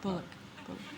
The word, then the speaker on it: Bullock: Depends on how you say it. It does. There's ways to say it that it sounds sexy. Is there Bullock. Bullock. Can you say it like that? Don't put so much energy behind. Just Bullock. Bullock.